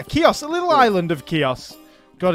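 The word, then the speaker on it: Chios: important to emphasize that in Greek it will be more like kios because we also have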